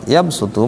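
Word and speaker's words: يبسط: Wa yabsutu, sama sin kecil yang berada di atas huruf shad pada kalimat yabsutu menunjukkan bahwa shad dibaca sin, wa yabsutu.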